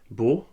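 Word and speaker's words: beaux: Beau, nouveau et jumeau reçoivent tous un X qu'on ne prononce pas. Alors ça devient beau, nouveau et jumeau, tous avec un X.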